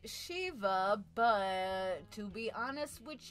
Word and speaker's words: Siva: All right, y'all, Shee-va or Siva, if I dare. Now, it is pronounced Shee-va, but to be honest